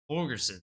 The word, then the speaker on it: Holgorsen: Dana Holgerson. Holgerson. Thank you, Ryan. Go ahead. Since you know how to pronounce his name, I'll let you start it off.